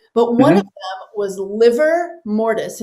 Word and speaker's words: livor mortis: But one of them was livor mortis, and it's spelled LIVOR, and it means blood stagnation.